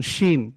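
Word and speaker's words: شين: এরপরে দেখুন শিন। জিম যে উচ্চারণ করছে জিহ্বার মধ্যখান তার বরাবর তার সঙ্গে লাগবে, ওই জায়গা থেকে শিন, শিন, শিন, শিন, শিন।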